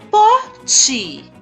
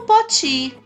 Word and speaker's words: pote: Eu falo pote. 2 sílabas. Pó e o ti. Pó, pior. Agora eu vou dar uma dica. Eu digo pote, mas eu não escrevo poti. Eu escrevo pote.